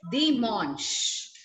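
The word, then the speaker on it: dimanche: The pronunciation of the last one is Di Monch.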